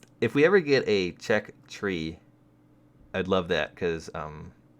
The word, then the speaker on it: Czech: six - excuse me I used to call it chess but then I realized how to actually pronounce it if we ever get a check tree I'd love that